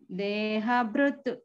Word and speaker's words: देहभृत्: इज it only देहभृत् Deha Brutu. Brutu. So Brutu, Pravru, that please avoid that full ru pronouncing. In wherever the shloka, the ru pronunciation is coming, please pronounce Pravrutincha, not Pravrutincha. So ru not to come, vru, only vru. Pravrutincha. Here also, Deha Brutu, not Brutu. It is Deha Brutu only.